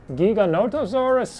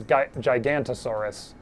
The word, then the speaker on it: Giganotosaurus: enough for a gigantosaurus am i saying that right i'm gonna turn out it's gonna turn out it's gigantosaurus or giganoto how do you say it giganotosaurus feels wrong to me but giganotosaurus i definitely misread it as gigantasaurus more often than i uh really should but thank you